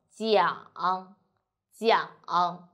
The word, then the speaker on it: 讲: 我们一起读。讲鸡一昂扬扬讲 and third time 讲讲 very good.